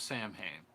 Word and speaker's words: Samhain: Spectre Whispers, Sam Hain. Dragon Ranger, Sam Hain. Pronounced Samhain. Yeah. Dragon Ranger, and it's pronounced Samhain.